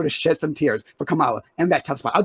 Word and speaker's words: Kamala: Kamala. Yes. Kagala.